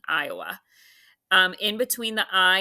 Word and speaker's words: Iowa: that's going to be that has a schwa this is an open syllable exception actually because that's making the schwa sound not I away although some people I believe say it that way so either way I'm